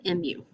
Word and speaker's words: mu: is a greek letter it's the greek letter mu not like moomoo cow but mu okay some of the